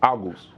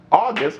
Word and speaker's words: August: to say your name just like an hour and a gust in the end so just shorten it out august august how are you excellent